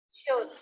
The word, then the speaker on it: should: Should. Should. Should ya, huruf L-nya nggak dibaca ya. Jadi kadang-kadang bahasa Inggris itu ada huruf-huruf yang di silent, tidak diucapkan ya.